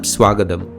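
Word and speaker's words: സ്വാഗതം: Previously we saw the word written as ninchittu gets pronounced as ninchittu, and words like swagatam become swagadam.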